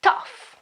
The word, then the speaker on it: tough: There are words where the GH, okay, is pronounced as F.